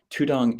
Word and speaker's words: tudong: not familiar with this tudong is the Thai pronunciation of the poly word dutunga so in the earliest